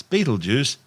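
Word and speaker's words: Betelgeuse: sting on Orion's shoulder currently known as bleers and commonly referred to by the public as Beetle Juice don't say it three times the names of both tortured mispronunciations of the original Arabic name ipala meaning the hand of the big man the big man being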